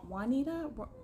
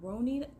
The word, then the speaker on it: Ronita: say my name right they're like w Wanita Retta ronetta W Wanita no no no know ronita ronita okay I don't I